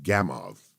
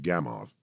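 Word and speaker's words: Gamow: popularizer uh named george gamov g-a-m-o-w the w pronounced as a v george gamov and he he wrote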